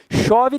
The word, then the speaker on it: chove: palavras chove por exemplo chove tem som de X não tem se eu tirar os